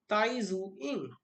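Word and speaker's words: Tai Tzu-ying: with T tiny zoo in here the second T is silent will pronounce it as Tai zu in little with the pronunciation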